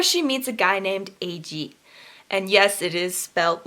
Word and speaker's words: Age: the surface where she meets a guy named AG and yes it is felt like age a GE but it's pronounced AG she meets him and he's not